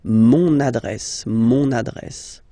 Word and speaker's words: mon adresse: Mon adresse, my address, mon adresse, okay, you can hear now this little link, so you've got to pronounce this N, mon adresse, okay.